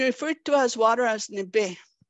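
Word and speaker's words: nibi: to as water as nibe we spell it with a B uh that's n i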